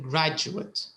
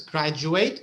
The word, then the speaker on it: graduate: verb you're an engineering graduate do you see the difference graduate graduate the spelling is the same but the pronunciation is very different right graduate graduate so graduate